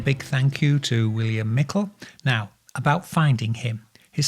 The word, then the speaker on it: Meikle: thank you to william mikel now about finding him his surname is actually spelled m-e-i-k-l-e but pronounced mikkel and you can find